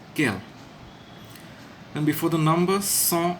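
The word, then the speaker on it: quel: s is feminine plural but they're all pronounced as kale and before the numbers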